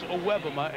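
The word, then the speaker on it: Iwebema: for a loss of about 3 by Ken Iwebuma. Again, if you are with us earlier, that is the correct pronunciation of his name, adjusted. It is Iwebuma, and it is a sack.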